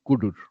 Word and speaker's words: cdr: this is typically cdr since you cannot pronunciate it easily you call it kudur so tail or kudur